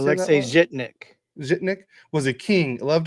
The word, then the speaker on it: Alexei Zhitnik: Alexei Zhitnik.